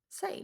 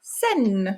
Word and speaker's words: Seine: In French, we would say Seine. Seine. La rivière Seine.